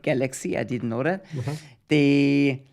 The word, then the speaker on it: Galxe: If you pronounce it German Galxe, it makes no sense. If you start pronouncing these mix of letters and use a galaxy, then you spelled it complete, or you spoke it completely right, then it becomes galaxy.